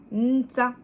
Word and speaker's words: nta: Nta, ntuma. Alors, en rapidos, on dit nta, nta. En fait, il y a un N qui est prononcé, mais qui est un petit peu avalé.